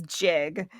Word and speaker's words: jig: Did we just clear it up whether it is gig or jig? It is jig.